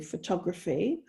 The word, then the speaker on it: photography: going back to say photography so in photo you've got the full o sound photo but when you change to photography then that first syllable becomes the schwa the unstressed sound photography so it's it's a